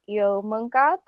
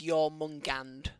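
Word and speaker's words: Jörmungandr: Apparently the way you pronounce it is your Mungand. Mungand. Yeah, I wrote it down somewhere. Yeah, apparently that's how you pronounce it.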